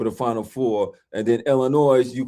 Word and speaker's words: Illinois: That the Michigan has to play Arizona for the Final Four, and then Illinois.